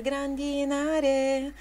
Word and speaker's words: grandinare: Ela canta: sta per grandinare. Mas a sílaba tônica é grandinare, né? Não na A.